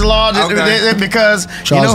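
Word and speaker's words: Laughton: I say Lafton. No. No. Oh, Lawton. No, it's Lawton.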